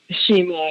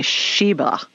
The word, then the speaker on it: Shima: Shima, yeah. Spell it. Shima. Shima. Okay. I thought you were saying Sheba.